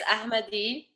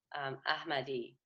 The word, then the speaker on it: Ahmady: It's Ahmady. It's Okay. kind of a very soft and gentle way of pronouncing the H. So it's Ahmady.